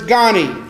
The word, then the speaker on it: gani: h ABA RI hibari the second word is gonee GA ni habari Gani and kiswahili